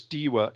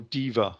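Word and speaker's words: Deva: the story of Fortress dewa Is or Diva I should say is interesting it's spelled with a W but in Latin they normally pronounced it as a v so it normally comes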